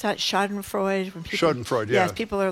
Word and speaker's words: Schadenfreude: How do you pronounce that? Schadenfreude? Schadenfreude, yeah.